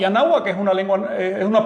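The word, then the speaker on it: Anáhuac: Se lo voy a poner como ellos lo pronunciaban. Se lo decían porque hablaban nawak y anahuak es una lengua, es una palabra nawa.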